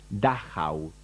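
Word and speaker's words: Dachau: es el campo de concentración de dahau así se pronuncia eso que ahí está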